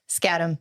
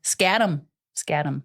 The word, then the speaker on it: Skattum: So, and today we have Skattum. I always got to make sure and pronounce her name correct. Is that right? Say it. Skattum. Skattum. Good morning. It's exactly how it sounds or looks too. Skattum.